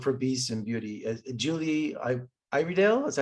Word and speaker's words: Iredale: Julie Iredale, is that how you say her name? Yeah, Julia Iredale, she's a genius and so cool.